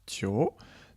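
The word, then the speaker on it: 九: de sa prononciation donc 9 en chine ça se prononce tio tio est en fête thirau c'est la même prononciation que le mot chinois pour dire longtemps du coup il ya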